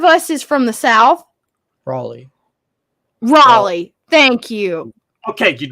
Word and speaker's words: Raleigh: ] you kaelin no it is pronounced raleigh r-a-l-e-i-g-h because l-e-i-g-h is lee no you hey god which one of us is from the south raleigh raleigh thank you okay